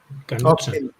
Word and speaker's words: Knudsen: Knudsen. Porque es K. Knudsen, con D entre medias.